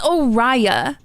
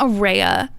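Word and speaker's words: Oraya: No, it's Oria. It's not aa. No. I've been saying oria in my head.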